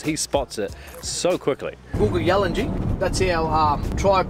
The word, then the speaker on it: Kuku Yalanji: Googa Yalanji, that's our tribe name. Right. Where the Googa Yalanji people, the rainforest people. Right. It's pronounced Kuku Yalanji, but the K to us is a silent letter.